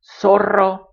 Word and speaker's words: Zorro: And just like CE or CI, I pronounce this the same as an S. Sa, so, su. Zorro, zafacón, zumbador.